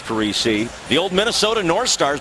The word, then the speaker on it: Parise: His dad, JP, who interestingly pronounces it Parise, but Zach prefers Parise.